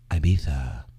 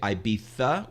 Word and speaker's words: Ibiza: truth but i know all the brits say ibiza with sticking the tongue out and we say ibiza because that's american and